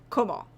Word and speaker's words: Kamal: Emphasis on the first syllable. Kamal.